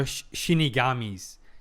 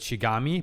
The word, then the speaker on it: Shinigami: I have a quick question about Yoke or Shinigami's. Yes, I'm finally correcting my misprononunciation. I know I know I mispronounced with Shigami, but Shinigami as some people suggested I think